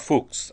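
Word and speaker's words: Fux: So this idea, and I see mention of the Jeppesen and Fuchs textbook. And by the way, F-U-X, Fuchs is my best pronunciation of the Latin on that.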